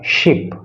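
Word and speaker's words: ship: बार कुछ लोग इसको सिप बोल देते हैं, तो ये सिप नहीं है। अगर आप सिप बोलोगे तो वो गलत उच्चारण होगा, इसका सही उच्चारण है शिप, यानी कि बड़ा श यूज होना है।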